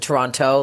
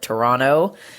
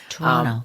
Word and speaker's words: Toronto: here as a Canadian we don't pronounce it Toronto like you Americans we just kind of roll it Toronto Toronto really y yeah y